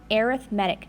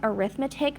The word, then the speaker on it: arithmetic: Now let's talk about what arithmetic means. So yes, it looks like arithmetic, but we pronounce it arithmetic.